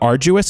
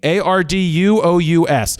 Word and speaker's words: arduous: But I do want to say a thing about arduous. It's spelled A-R-D-U. Wait, my eyes are shaking. A-R-D-U-O-U-S. I thought it should have been spelled A-R-J-E-W-U-S. Arduous. Arduous. And whatever, it's not.